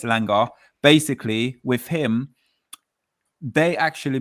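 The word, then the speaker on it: Elanga: Also with it, they were saying with Ilang, I could say his name all the time and everyone get upset with me when I say Ilangi. I say Ilangi, but it's Ilanga.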